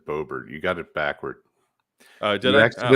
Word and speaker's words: Boebert: You usually say Bobbert, and you said Boebert.